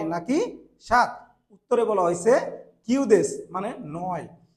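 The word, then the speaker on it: 九: নানাদেসকা এখানে দেখেন ইংরেজিতে নাইন এবং সেভেন যার উচ্চারণটা হচ্ছে জাপানি যদি করি এটাকে কিউ বলা হয় আর সাত কে মানে সেভেন কে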